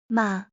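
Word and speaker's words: 马: On its own, it means horse and it's pronounced ma, right?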